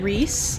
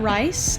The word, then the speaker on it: Rhys: I know now that you pronounce it Rhys and not rice and I know that